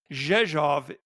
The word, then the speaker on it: Rzeszów: Rzeszów is spelled R-Z-E-S-Z-O-W, and it is pronounced Rzeszów.